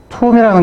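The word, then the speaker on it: tomb: 그리고 이제 툼이라는 게 있는데 B는 이제 묵음이죠.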